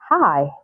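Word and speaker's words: high: it's silent we say hi light bright through through night night fight fight so can you see these examples have the G come right before the letter H but the g is silent so these are some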